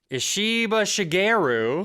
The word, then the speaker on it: Ishiba Shigeru: I think maybe a more American pronunciation would be Ishiba Shigeru Yes.